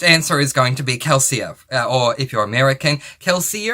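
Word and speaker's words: Kelsier: is going to be keler or if you're American keler we pronounce our e's at the end of words in Australia as an a sound rather than the American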